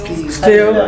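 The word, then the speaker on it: stele: Still, How do you spell it?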